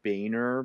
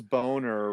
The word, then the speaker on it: Boehner: House in the states John Boehner but it was yeah yeah it was boner right well because the reality